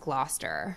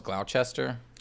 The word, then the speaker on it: Gloucester: I think it's pronounced Gloucester.